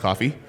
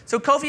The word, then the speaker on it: Kofi: My name is Kofi, not pronounced coffee.